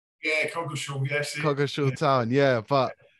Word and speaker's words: Coggeshall: Have I pronounced that right? Yeah, Coggeshall, yes.